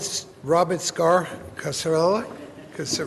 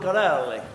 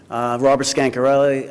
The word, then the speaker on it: Scancarelli: Robert Scar Casarella? Oh, say that, come on. Scancarelli. Oh, okay. Hey, Robert I'm pronouncing an R, not an N. Yeah. You're an N. It's my initial, my handwriting. Robert Scancarelli.